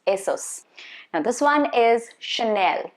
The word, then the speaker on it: Chanel: Now this one is Chanel, not Channel. There is no double N. Chanel.